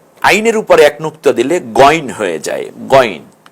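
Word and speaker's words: غين: আইন, আইনের উপরে এক নুক্তা দিলে গইন হয়ে যায়, গইন উচ্চারণ লেখা আছে।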